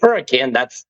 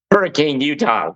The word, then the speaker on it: Hurricane: spelled hurricane, but they pronounce it hurricane because it was originally founded by the Welsh. So if you hear people say hurricane, that's what we're talking about is Hurricane, Utah. We pronounce it hurricane.